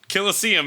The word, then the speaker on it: Colosseum: Colosseum is how you pronounce this word.